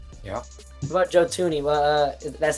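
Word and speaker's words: Joe Thuney: What about Joe Tuni? Well, uh that's how you pronounce his name.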